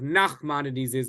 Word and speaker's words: Nachmanides: And we differentiate between these two by accenting the first syllable of Maimonides' name and the last syllable of Nachmanides' name.